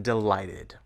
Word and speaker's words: delighted: In delighted, the ed ending comes after the sound t. So we pronounce the ed ending id.